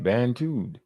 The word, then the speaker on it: Bantu: They Bantus? Yeah. Where'd I say that at? Right there. Am I saying it right? Bantu.